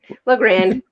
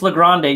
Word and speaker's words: La Grande: from la grande oregon le grand yeah look it's legrande you've been pronouncing it wrong your whole life well it's french not spanish we're all about you